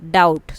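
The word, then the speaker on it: doubt: More word with silent letters include डाउट। B silent है।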